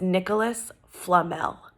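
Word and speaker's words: Nicolas Flamel: sound like but I looked up the official pronunciation and it's Nicholas Flamel here we go chapter 13 and remember we're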